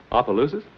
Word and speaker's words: Opelousas: Opelousas?